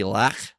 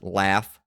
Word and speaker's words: laugh: Laugh used to be lach with a throat sound at the end. Now it's laugh.